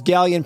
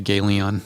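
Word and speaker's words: Ghaleon: find them John do says gallion pronounced like scallion yep yeah I'll try and do better I'm sorry I just I feel like I'm destroying my credibility with debuting gallion with a gayon yeah yeah we didn't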